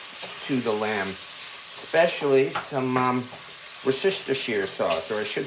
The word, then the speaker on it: Worcestershire: to the um to the lamb especially some Worcestershire sauce or I should say Worcestershire sauce the joke of mispronouncing Worcestershire sauce is way too common to